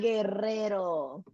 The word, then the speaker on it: Guerrero: They say it like that sometimes when I'm winning my trophies. They try, but let me hear you say it again. Guerrero. There you go. Roll that R.